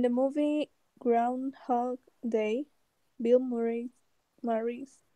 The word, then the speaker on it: Murray: In the movie Groundhog Day, Bill Murray's how do you pronounce?